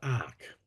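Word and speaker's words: ARRCC: For the last 15 years, she's been involved in the multi-faith climate action organisation, Australian Religious Response to Climate Change, pronounced ARC.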